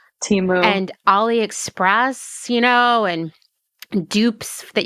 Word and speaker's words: Temu: Temu, like, Timu.